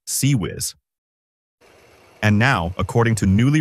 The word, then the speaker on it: CIWS: The Failins close-in weapon system or CIWS, pronounced CEW whiz.